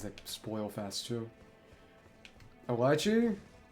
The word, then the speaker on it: lychee: A lychee? Do you pronounce it lychee? I hope that's just the way you spell it because it's lychee. It's pronounced lychee.